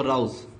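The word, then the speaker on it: rouse: इसको रोज पढ़ते हैं लेकिन इसका प्रोनाउंसिएशन है जो है वो राउज।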